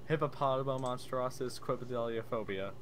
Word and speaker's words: hippopotomonstrosesquipedaliophobia: you say it hippopotomonstrosesquipedaliophobia also what you both say that wrong hippopotomonstrosesquipedaliophobia okay cool cool final